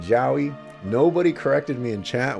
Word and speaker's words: Jowy: the little character section I have Joey or Joey you can let me know in chat how you pronounce his name I said Joey nobody corrected me in